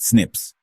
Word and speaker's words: SNPs: These are called SNPs, single nucleotide polymorphisms, pronounced SNIPS.